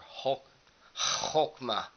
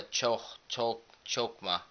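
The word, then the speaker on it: Chokmah: for kether gray for chokma or Hulk hogma something like it it's spelled with an H but it's more of a chokma gray for chokwa black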